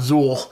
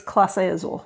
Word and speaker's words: Clase Azul: I keep calling it Zool, like Ghostbusters. It's Clase Azul.